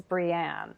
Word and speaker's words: Breanne: want to say that we spell your name is spelled BR EA NM e ji name is Brienne that's important so if that's too hard to